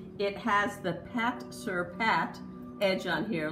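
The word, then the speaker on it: pâte-sur-pâte: It has the Pat Sur Pat edge on here. Last time I had said it, I think Pate Sur Pate, so forgive me.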